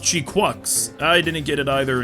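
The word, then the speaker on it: GQuuuuuuX: Okay, I saw the movie a few weeks ago, and it's actually pronounced Chi-Quux.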